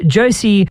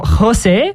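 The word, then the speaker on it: José: that not only is Josie or Jose as he's actually properly pronounced in his home country of Puerto Rico, he is actually also blinded just like myself.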